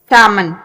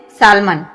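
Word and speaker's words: salmon: आगे है सामन। सामन हम क्या बोलते हैं? सालमन। सालमन, इसमें एल जो है वो साइलेंट हो जाएगा।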